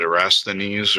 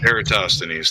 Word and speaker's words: Eratosthenes: like to claim that I can't pronounce the name but erasthenes or whatever the one that pronounced eratosthenes thank you no no my point